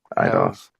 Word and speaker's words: Eidos: that there is actually Eidos Montreal developers that Eidos.